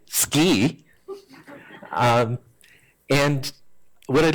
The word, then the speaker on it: DSCI: be here at seci especially since Chris this morning told me I have to pronounce it ski um and what I'd